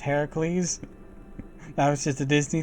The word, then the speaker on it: Heracles: both assassins young her Hercules Hercules it's actually pronounced heracle that was just a Disney thing Ki has